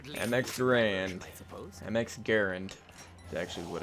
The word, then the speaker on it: MX Garand: MX Garand is actually what it's pronounced.